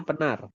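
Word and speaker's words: Pınar: nama sayaar Penar Penar Iya, bacanya penar.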